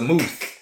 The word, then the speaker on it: vermouth: just spell it out, it looks like it's spelled with a mouth on it. So how would you know that this is a mooth?